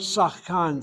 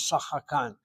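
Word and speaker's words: שחקן: And that word sachkan sometimes is pronounced, the shvanachanitachet is opened up, so it's pronounced as sachakan. So you might find a pronunciation as sachakan, and if so, then the shvanach lost its silence and opened up.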